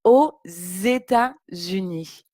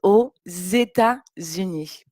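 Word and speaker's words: aux États-Unis: prononcer comme elle habite aux états unis elle habite aux états unis et donc on le prononce vraiment comme un z pour faire la liaison elle habite aux états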